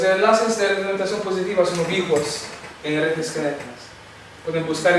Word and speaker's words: ubicuos: ¿Ubicos? ¿Esto es correcto? Puede ser ubicos. ¿Ubicos? ¿Cómo se escribe? Ubicuos. Entonces, estos enlaces son ubicuos. ¿Ubiquitarios? No. Es el corrector que me ha puesto ubiquitarios. Debe ser ubicuos.